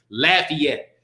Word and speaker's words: Lafayette: Let me make sure I pronounce that right. Lafayette.